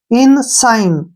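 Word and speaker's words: ensign: क्या बन गया इन एस आई जी एन इसको हम साइन पढ़ेंगे क्या पढ़ेंगे साइन क्योंकि जी यहां पर साइलेंट रहेगा ठीक है ना इन साइन क्लियर यहां पर इन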